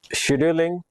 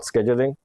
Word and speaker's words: scheduling: So the process scheduling, I'll use the British pronunciation, not scheduling.